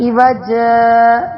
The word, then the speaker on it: عوجا: کاف والی جگہ میں سکتہ اس طرح کریں گے کہ عوج، 2 زبر کی تنوین کو الف سے بدل دیں گے، اس طرح میم وراق